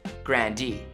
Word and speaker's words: Grande: told ari that their last name should be pronounced grandi my brother was like we should say grande it's so fun to like say it's like